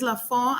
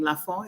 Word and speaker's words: La Font: Well, my website is La Font and Associates. That's how I pronounce my name. La Font is French.